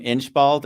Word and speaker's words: Inchbald: We haven't met either, but is it correct to pronounce your name Inchbald, or are we overly stating it in an American-like way? No, that's how we pronounce it in the UK.